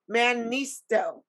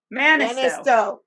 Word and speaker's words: Mannisto: working on this no i'm going to say it right manisto manisto yes i know it's so